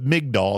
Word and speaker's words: Migdal: and so forth but mig doll is what we call it a lot this is a a